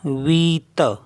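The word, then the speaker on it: huit: मीस होता है night H यू आई टी इसमें एच साइलेंट होता तो बचा क्या वीत वीत मींस एट ये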